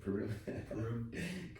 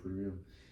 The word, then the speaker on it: Purim: Purim. Purim.